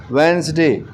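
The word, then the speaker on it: Wednesday: फिर है वेंसडे, इसमें D साइलेंट है।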